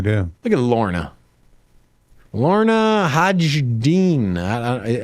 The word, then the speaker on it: Hajdini: Lorna Hajdini. How do you? What's the pronunciation? Hajdini.